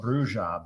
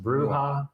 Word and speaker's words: bruja: it was actually because we used to call it Bruja, but I think it's probably pronounced Bruha. Yeah. Yeah. Yeah. Yeah. Because it be more like uh like a Spanish kind of sound. Yeah. The J sound.